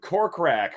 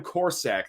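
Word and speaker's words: Korsak: this football season uh Adam corkrack or whatever however you say his name Adam corsack there we go of Rutgers that's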